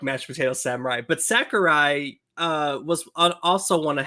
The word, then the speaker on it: Sakurai: with Sakurai isn't it Sakurai is that how you pronounce it Sakurai thank you socer guy I don't